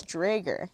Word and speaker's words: Draeger: Now it is Drager. Drager.